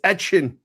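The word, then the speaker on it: Etienne: and your boy and I'll say his name right Travis Etchin is there that all Etchin Kamar like Tyler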